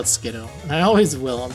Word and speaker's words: Skiddo: Reverse foil Skiddo, or Skidoo, I think it's officially pronounced as. I always call it Skiddo, and I always will, I'm sorry.